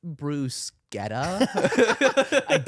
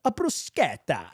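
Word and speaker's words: bruschetta: was actually spot on Boca de ciao it's pronounced Bruce Guetta a gout and she did that to me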